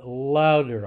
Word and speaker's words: louder: The same thing with louder. I say that the stressed or the accented syllable is said somewhat louder.